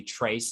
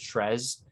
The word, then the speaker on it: Tres: um uh it's just be trace instead of tres um so i'm sorry